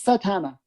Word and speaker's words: Satana: you say zatanna or but this is satana like like satan yeah yeah with an